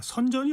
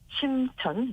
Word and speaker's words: 선전: 선전이 어떤 곳입니까? 네. 선전은요. 어 우리나라에서 심천이라는 그런 발음으로도 굉장히 많이 알려주고 있는 것입니다.